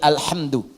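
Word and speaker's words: الحمدُ: di kar sabaah semua para pembacanya itu mendomahkan huruf dal di alhamdu ya alhamdu alhamdu ini saya hapus dulu ya bismillah menghapus dengan menggunakan bismillah.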